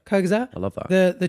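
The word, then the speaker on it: Kurzgesagt: Is it Kyusat? Oh, Kyazat. Yeah, Kyazette.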